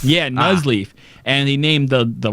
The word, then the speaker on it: Nuzleaf: well I was like the first syllable it's nuzleaf yeah nas leaf and he named the